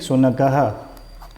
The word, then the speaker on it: शुनकः: और विसर्ग का उच्चारण जो है ह होता है। ओके, क्या उच्चारण होता है विसर्ग का? ह की ध्वनि निकलेगी जब भी उच्चारण करोगे।